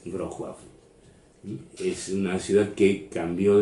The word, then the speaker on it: Wrocław: Actualmente esa ciudad se llama Wrocław, o dicho mal pronunciado, Wrocław, pero no es Wrocław, es Wrocław.